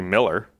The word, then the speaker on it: Mueller: Even the Mueller development's like that. It's supposed to be Miller. No, really? It's not. Yeah, I'm pretty sure Mueller's supposed to be pronounced Miller.